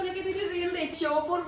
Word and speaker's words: शिवपुरी: क्यों पानी बरस गए सीपरी सीपरी मत करो करेक्ट प्रोनाउंसिएशन करो शिवपुरी अच्छा शिव की पूरी